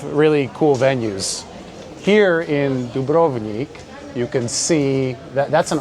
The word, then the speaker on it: Dubrovnik: DUBROVNIK, as Americans would say it, or DUBROVNIK, if we're going to pronounce it correctly.